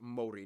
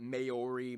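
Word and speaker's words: Māori: Korea and Japan yes by the way it's pronounced Mori not mayori Mai they use the New Zealand dollar as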